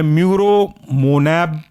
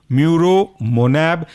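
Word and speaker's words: muromonab: Next सब class है आपका anti-CD3 एंटीबॉडी और इसके अंदर एग्जांपल है म्यूरोमोनैब, CD3, म्यूरो, MURO, मोनैब, MONAB, म्यूरोमोनैब, CD3।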